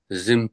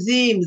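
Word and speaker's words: جيم: জু একটু খেয়াল করেন আকাশটা খেয়াল করেন জু জিম্ম পেশ জু জু জিম জু বললে জু বললে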